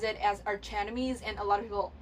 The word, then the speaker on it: Archenemies: our Academy because like the CH can be pronounced as 2 K sound and I always thought it's the Arcanum ease until I don't know a few months I